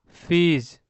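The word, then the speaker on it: fees: फीज।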